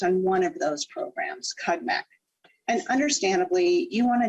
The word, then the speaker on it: CUGMEC: So we use the acronym CUGMEC is how we pronounce it to refer to the program.